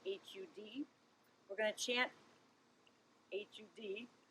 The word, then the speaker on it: har: mantra is this so h-a-r pronounced almost hud we're going to chant